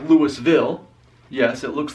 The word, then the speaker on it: Louisville: the pronunciation of it you have to have a southern accent to pronunce it but for me I